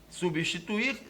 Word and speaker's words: substituir: silábica da palavra substituir substituir pronuncia-se separando-se as sílabas substi tu ir e isso é a